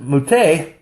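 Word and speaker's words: מַטֶּה: But if you pronounce it Muteh, it can mean either tribe or support.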